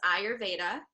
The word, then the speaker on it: Ayurveda: That's how you pronounce it. It's Ayurveda.